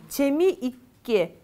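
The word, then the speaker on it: 재미있게: Видите, мы вот это там, где у нас ит, да, двойной подслог, мы не произносим т, мы просто делаем смычку. Но вот так. Нет там т, да, просто чеми икке.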